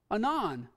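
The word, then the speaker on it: ענן: at pronouncing this one anon anon sounds like our abbreviation for anonymous on on it means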